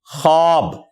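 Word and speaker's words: خواب: में खवाब होता है यानी वाव साइलेंट है यह पढ़ा कैसे जाएगा खा अलिफ और बा खब लेकिन खने में खवाब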